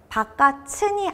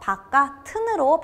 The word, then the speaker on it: 바깥은: 바깥은이 아니라 연음이 돼서 바깥은으로 발음이 돼야 옳은 것이니 이 문제의 정답은 3번입니다.